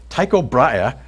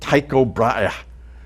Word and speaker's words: Tycho Brahe: I'm Danish and my name includes two full glottal stops, which English speakers find difficult to say.